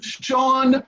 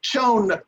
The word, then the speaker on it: Chone: For example, it's J.J. Poots, not Putz, and it's Sean Figgins, not Chone Figgins.